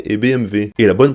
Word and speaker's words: BMW: chocolat et on a BMW et BMW et la bonne prononciation c'est men bat les couilles juste que le W se dit V en allemand donc après si on